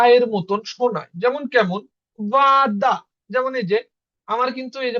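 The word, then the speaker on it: вода: ও যদি স্ট্রেস বা জোরে উচ্চারণের ভিতরে একসাথে থাকে তাইলে ওর মতনই উচ্চারণ হবে। বাট যদি ও স্ট্রেসের মধ্যে না থাকে তাইলে আমাদের ওর উচ্চারণ কি হবে? আর মতন হবে। এই কারণে কিন্তু এখানে এখানে হইছে বাদা। এখানে হইছে বাদা। এখানে ওটা আর মতন উচ্চারণ হইছে।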